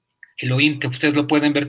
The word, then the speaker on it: Elohim: O también está AHIH, que se pronunciamos como Elohim. Elohim, que ustedes lo pueden ver también en el Antiguo Testamento.